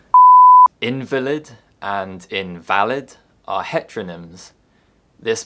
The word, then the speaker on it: invalid: There are many other heteronyms which differ only by the position of the word stress, and they can easily cause confusion.